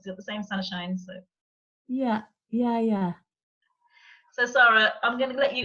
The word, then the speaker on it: Sara: rarely meet people with the, certainly if the spelling is the same, the pronunciation is Sarah.